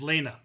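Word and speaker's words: Lina: It's not Linda, it's Lena.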